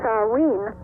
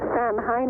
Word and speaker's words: Samhain: So this festival of Samhain, or Samhain as you say it and as many people mispronounce it, is known as the